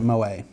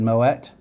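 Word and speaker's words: Moët: dots umlat means you don't pronounce it Moe I'm just making fun of people that said Moet where I worked once and then one day I found out they were the people that was pronouncing it right it's kind of like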